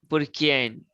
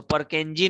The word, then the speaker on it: Purkinje: Jan Evangelista Purkian. Purkian. So Purkinje नहीं पढ़ना है, उसे Purkian पढ़ना है.